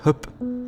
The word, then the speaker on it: Höfn: la cittadina portuale di Höfn, che in realtà si pronuncia Höp, e che dista 3